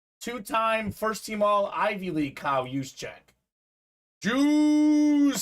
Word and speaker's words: Juszczyk: I was like, it's Juszczyk. He's like, what? Juszczyk.